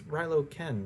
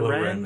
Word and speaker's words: Kylo Ren: You said it wrong. You said Rilo Ken. Yeah, Yes. that's what I said. Kylo Kylo Ren. Ren. Oh, okay, sorry. Yeah. Yes. Mix the two first letters there.